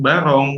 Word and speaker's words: Barong: Barong, Yes.